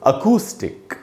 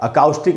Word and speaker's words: acoustic: ये दोस्तों अकूस्टिक, इसको पढ़ना चाहिए। अकाउस्टिक नहीं पढ़ेंगे, अकूस्टिक पढ़ेंगे। आधा अ है।